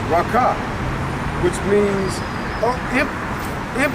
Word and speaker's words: raca: raka in the grief is actually pronounced raka which means of him